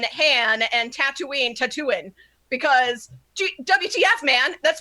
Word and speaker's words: Tatooine: the right pronunciation aleena it's Han he introduces himself as Han and it's Tatooine because the people who live there say I live on Tatooine all of it al